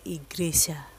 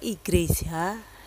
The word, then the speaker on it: igreja: Tulisannya igreja, bacanya igreja. Kata igreja dalam bahasa Portugis ini dekat sekali dengan kata iglesia dalam bahasa Spanyol yang mempunyai arti yang sama, yaitu gereja.